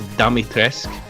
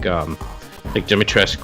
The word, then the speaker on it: Dimitrescu: Well, actually, characters pronounce it differently in the game. Okay. So, one says Dimitrescu, and they're like Dimitrescu.